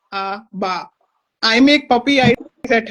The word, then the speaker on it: ABBA: The group is called Abba, not Abba. Repeat after me. Abba.